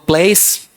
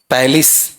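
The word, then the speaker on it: palace: पैलिस, पैलिस, पैलेस नहीं, पैलिस, ठीक है।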